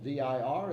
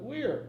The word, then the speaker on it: vir: The word for man, V-I-R, is not vir, but wir in Latin, as you well know.